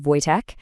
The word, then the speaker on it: Wojtek: It's pronounced Wojtek, and in Polish, it means happy warrior.